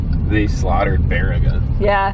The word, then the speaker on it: Baraga: I'd like to hear the GPS pronounce it. Right? They slaughtered Baraga. Yeah. Baragaga.